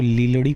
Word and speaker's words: लीलड़ी: अगर हम कहे तो यह जो लिखा हुआ है इसको लीलड़ी प्रोनाउंस किया जाता है ली ल लीलड़ी ठीक